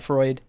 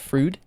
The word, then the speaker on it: Freud: norm I'm surprised that Americans say Freud properly not fruit uh yeah maybe it'd